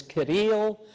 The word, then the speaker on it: Kirill: And this has also been the story that the patriarch in Moscow, the patriarch of the Russian Orthodox Church, Kirill, or in Russian is pronounced as Kirill, this is a story that he also tells.